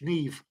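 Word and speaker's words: Niamh: spelled yeah m-a-e-v-e Neve oh Neve n-a-i-m-h Neve oh okay I thought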